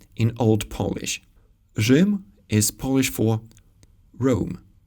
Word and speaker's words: Rzym: A digraph rz is used for the zh sound when it used to be pronounced as soft r in Old Polish. Rzym is Polish for Rome.